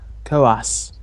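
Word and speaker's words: Koas: Kos. She pronounces it Kos.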